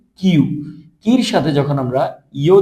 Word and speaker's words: きゅ: আর কির সাথে যখন আমরা ইউ দিব, উচ্চারণটা হবে কি? কিউ।